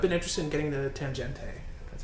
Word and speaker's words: Tangente: I've been interested in getting the Tangente. That's how you pronounce it.